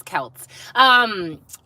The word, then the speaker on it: Celts: I knew that I was mispronouncing Celts, but I was waiting for somebody to correct me.